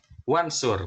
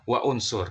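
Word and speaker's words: وانصر: ada huruf wau misalkan maka kita membacanya menjadi wansur bukan wa unsur ya jadi Hamzah qot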